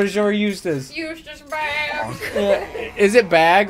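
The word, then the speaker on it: Bagge: It's bag. B-A-G-G-E. Okay, so George had it right. And it's pronounced bag, like grocery bag?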